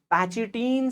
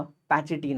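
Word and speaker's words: pachytene: अब इसको आप कई बार पैचिटीन से भी प्रोनाउंस कर सकते हैं, and even you कैन से पैकिटीन। I would prefer पैचिटीन आप कहें।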